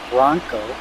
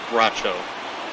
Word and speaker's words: Bracho: Yes, Silvino Bronco I said that right. Back out for another inning. I believe it's Bracho. That's how you would pronounce it.